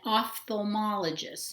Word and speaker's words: ophthalmologist: called we're going to do eyes first an ophthalmologist notice that the ph is pronounced um like at the letter f it's